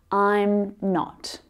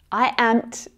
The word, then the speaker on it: I'm not: There is only one way to pronounce this contraction. I'm not. I am't doesn't exist.